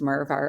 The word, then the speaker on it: Merv: The spokesperson himself, so his name's Merv, our character, and it rhymes with Verve, which helped people break into the marketplace and understand it.